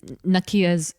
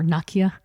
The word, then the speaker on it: Nakia: And Nakia's or Nakia. I keep saying Nakia because of T'Challa in Black Panther, but I think the pronunciation is a little different.